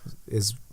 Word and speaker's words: Ay: Especially because it's it's not supposed to be pronounced A. It's supposed to be pronounced I.